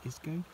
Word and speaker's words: Ysgo: Here we are on Porth Ysgo beach, how do you pronounce it? Ysgo.